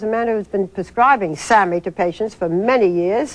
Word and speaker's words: SAMe: It's called SAMI, and it's spelled capital S-A-M with a little E.